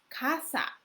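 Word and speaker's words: 傘: But the third one is kasa. Kasa. Kasa in Spanish is house, but in Japanese kasa exactly same pronunciation.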